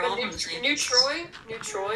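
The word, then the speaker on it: Neutrois: Neutroi, it is spelled like N-E-U-T-R-O-I-S, so I could be pronouncing it wrong.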